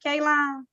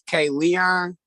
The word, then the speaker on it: Keelan: Keelan Anderson Jordan, is that how you pronounce it, Keelan? No, it's K Leon. K Leon, it is K Leon.